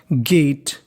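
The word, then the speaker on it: gate: खोला द गेट गेट अगर आपको इंग्लिश में कहीं पर आखिरी अक्षर में ई लिखा मिल जाए क्या लिखा मिल जाए ई तो हमें ई का उच्चारण नहीं करना गेट दरवाजा ऑफ आई एनजी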